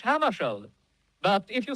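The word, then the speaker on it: Hammarskjöld: Well, I pronounce it myself in Swedish, Hammershield. But if you say Hammershield, that's all right with me.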